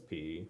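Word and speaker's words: Peay: the collections of the Austin P, or I guess it's P. Yeah, it is P. It's spelled P-E-A-Y.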